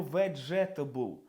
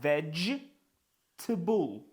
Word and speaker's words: vegetable: Ми не читаємо vegetable. Це vegable.